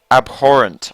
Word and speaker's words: Abhorrent: Abhorrent, I think, is how you're supposed to say it.